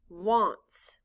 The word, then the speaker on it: wants: a n t s in this word the letter a stands for the short o sound ah and the s